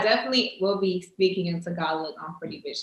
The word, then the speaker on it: Tagalog: to say it wrong what is it tagalog okay tagalon so is that you got tagalog with the g f the garlic okay